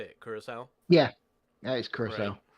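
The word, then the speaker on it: Curaçao: Or I'm assuming that's how you say it, Curacao?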